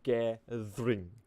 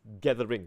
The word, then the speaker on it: gathering: of course i mean when we say uh gathering they usually you know uh it's more like it almost sounds like it's a two syllable like ger ring okay but in this case it's gathering right so so well i